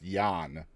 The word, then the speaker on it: Jan: So you got L's correct, but Jan is actually pronounced Jan, where they come from.